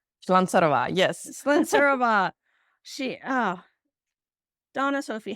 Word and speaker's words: Slancarova: All right, I'm going to try and pronounce this. Slancarova. Slancarova, yes.